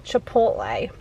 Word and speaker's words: Chipotle: exciting this is my first time ever having chipotle is that how you say it yes okay